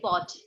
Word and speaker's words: fort: फिर हम आगे फ्रेज पढ़ेंगे किले को क्या बोलते हैं इसके बता fort very nice fort the correct pronunciation is not fort r को आप प्रोनाउंस नहीं करेंगे fort okay अच्छा बचपन में